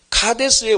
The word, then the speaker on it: 가데스: 그런데 이 가데스에서 이스라엘 백성들이 모세와 다투고 모세도 분을 품고 이스라엘 백성과 모세가 하나님과 다투게 되고 이런 다툼과 싸움과 갈등이 생겨서 이 장소가 머리바가 되어버렸습니다. 이 가데스의 뜻은요, 히브리어로 발음하면 카데스입니다. 카데스의 원단은 카도시인데요.